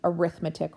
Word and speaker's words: arithmetic: Oh, also just as an FYI, I am not pronouncing arithmetic wrong. It is arithmetic. It is spelled the same way as arithmetic but it is not the same meaning.